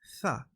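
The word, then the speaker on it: ث: Okay, when we say Tha, notice that my tongue is coming out. Tha, Tha, Tha. You cannot pronounce this letter as Sa. That's wrong. You have to dampen the S sound a bit.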